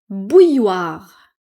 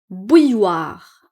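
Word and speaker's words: bouilloire: Bouilloir. Donc ici, il y a deux L mais on ne les prononce pas. Bouilloir ça.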